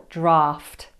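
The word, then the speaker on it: draught: Don't feel daft when you pronounce the word draft. When I got it wrong, I just laughed. This is pronounced draft, not to be confused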